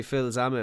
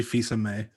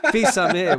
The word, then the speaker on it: Fils-Aimé: Reggie Phil's Ame. Was that right? It's Reggie Fils-Aimé. Oh, yeah. I thought I got that wrong. All right. Fils-Aimé with a silent L.